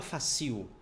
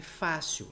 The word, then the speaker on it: fácil: uma paroxítona porque porque fácil a sílaba tônica é a penúltima você não fala facio é fácil aqui ó fácil paroxítona